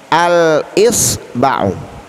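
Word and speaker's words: الإصبع: Al-isba'u, al-isba'u, ya. Hamzahnya adalah huruf qamariyah, ya. Makanya cara membacanya alnya dibaca dengan jelas.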